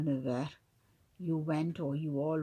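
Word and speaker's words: neuf heures: So we say 9h. So the F becomes a V. 9h, at 9 o'clock. Okay, vous êtes allé. The second one is a feminine singular. Vous êtes allé au bureau at à 9h.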